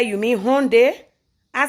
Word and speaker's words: Hyundai: He said, yes, but it's not how Hyundai is. Hyundai. I said, but America is very confusing. He said the Y is silent.